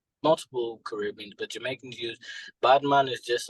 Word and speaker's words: Badman: all come about oh yeah well so um badman is just so the way it's actually pronounced I get a lot of people like